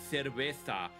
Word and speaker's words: cerveza: You say cerveza. Is how you say cerveza in Spain. Do it with the S's. It's just the C's and the Z's that turn into the th.